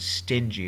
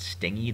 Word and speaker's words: stingy: list but this word stingy is really important it's pronounced stingy not sting e the gy there um